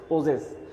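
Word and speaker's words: possess: প্রসেস জ উত্তরণটা কিন্তু জ, আর আমরা সাধারণত বলি প্রসেস এস বলি, এখানে জ POSSES প্রসেস।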